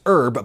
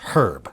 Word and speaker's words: herb: brits would say because you anglicized filet just like you anglicized herb by pronouncing the h herb according to some estimates